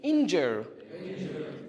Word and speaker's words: injure: How many syllables are there? Two. And which one of them is the stress syllable? First one or the second one? The first one, right? Okay, it's a noun.